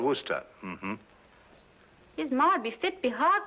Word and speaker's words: Worcester: Well, Freddy calls it something else, too, Doc, but it's spelled w o i c e s t e r. Worcester. Oh, yes, I see, yes. Lord Wooster.